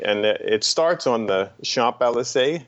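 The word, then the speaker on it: Champs-Élysées: it starts on the shop lsa is that how you say it yeah it starts there so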